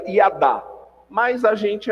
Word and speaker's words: yada: aquele símbolo ali é hiada no hebraico na verdade não se pronuncia assim né se pronuncia e adah mas a gente é